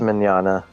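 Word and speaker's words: Mignogna: It's Micogna. Mignana. I know it doesn't make sense, but it's Mignana.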